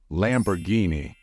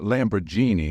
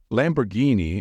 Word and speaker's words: Lamborghini: say this brand correctly the correct way to pronounce this word is Lamborghini it's not Lamborghini as many non-native speakers think Lamborghini is how it should be pronounced however some teenagers